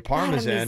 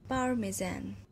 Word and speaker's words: Parmesan: If you want to say it right to an Italian person, that's how you would say it.